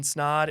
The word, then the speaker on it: Snod: But until next week, my name is Ryan Snod. It rhymes with odd, and I'm out.